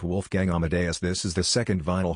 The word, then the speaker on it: Wolfgang Amadeus: It's pronounced Wolfgang Amadeus.